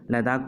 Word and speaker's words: लद्दाख: तो लद्दाख को एज a split करते हैं, दैट मीन्स लद्दाख को ला प्लस डाक एज ए तोड़ के या फिर एज ए डिवाइड करके हम लोग प्रोनाउंस कर सकते हैं।